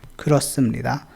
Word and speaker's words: 그렇습니다: ख्रोसमनिदा, ह का कोई साउंड नहीं है यहाँ पे।